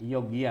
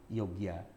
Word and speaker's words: Yogya: Itu Jogja itu pakai Y apa pakai J sih? Eee kalau misalnya saya kereta naik kereta nih, di stasiun Jogja itu pakai Y. Yogyakarta. Yogya ya, bukan Jogja. Tapi orang Jogja itu menyebut saking pundi, Mas? Kulo saking Jogja. Saking Yogya, kalau bahasa ngokonnya. Tapi eee tapi mereka bilang Jogja, gitu kan. Ke Jogja, bukan ke Yogya.